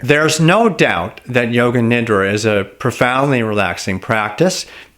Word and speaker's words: Nidra: is the Sanskrit word for sleep is not pronounced nedra that's unfortunate miss pronunciation that gained a lot of currency in the yoga world its Yoga Nidra is the correct way to say that term